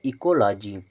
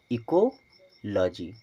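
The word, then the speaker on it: ecology: गया एल ओ जी वाई तो इसे पढ़ेंगे इकोलॉजी इसे क्या पढ़ेंगे इकोलॉजी इस प्रकार से अगर आप बड़े से बड़े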